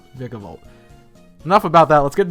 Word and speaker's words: Vikavolt: pokemon number three vicavolt i do believe it's pronounced vikavolt not vicovult but pokemon pronunciations are